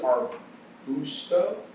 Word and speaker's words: Arbusto: Today I have Jason Arbusto.